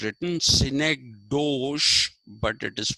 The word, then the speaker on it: synecdoche: term s-y-n-e-c synec d-o-c-h-e ducky okay it's written synecdoche but it is pronounced synecdoche where you confuse a part with